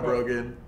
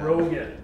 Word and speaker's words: Brogan: I'm Brogan. Brogan? Brogan, yeah. Brogan. Okay. Yeah. So how Brogan. Do you spell that?